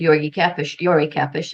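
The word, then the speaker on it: György Kepes: There's several reasons I want to share this research today, pairing Marshall McLuhan with Yori Kepes is the proper pronunciation.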